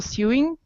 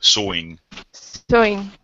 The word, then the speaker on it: sewing: hobbies not not so supportive for for example suing or something more useful in the daily life sewing is a little bit different yeah it's although it's a CW it's pronounced more of an all sewing yes yeah but this just isn't you that